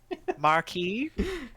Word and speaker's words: Marquis: Marquee. Yeah. It's Marquis? pronounced marquee.